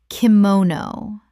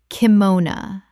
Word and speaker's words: kimono: hoots-pah chutzpah Word 225 kimono Common mispronunciation kimono Correct pronunciation kimona Three syllables with the final o reduced to uh in English speech.